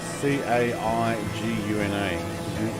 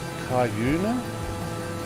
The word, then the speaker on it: Caiguna: actually from Baladonia maybe to, how do you pronounce that? Caiguna? C-A-I-G-U-N-A.